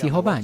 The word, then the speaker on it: Jehová: Y hasta hoy he encontrado 16 rabinos que dicen que el nombre es Jehová.